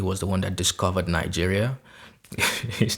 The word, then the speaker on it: Niger: to get in from Nigeria and then nijay because it was colonized by the French that's why they pronounce it not Niger so you can see